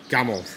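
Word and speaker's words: Gamle: step off ship and this area is called Gamel g-a-m-l-e oh that's how you pronounce it old Cobble streets old white houses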